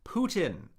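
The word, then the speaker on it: 普京: Putin. third tone, first tone.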